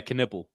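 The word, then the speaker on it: Knueppel: How do you pronounce it? Knipple? Yeah, Knipple.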